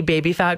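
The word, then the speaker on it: Baby Phat: Did you ever see baby fat clothing? I have no idea what you're talking okay, about. Okay, so it was baby fat, but it's spelled P-H-A-T.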